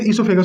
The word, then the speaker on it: oesophagus: आप इसको यूईएस, कुछ कईयों में इसको इसोफेजियल लिखा होता है, और ओ साइलेंट होता है, इसलिए हम इसको ओ यूएस, बाकी इसोफेगस भी लिख सकते हैं आप इसको ना, ईएसओ PHGUS।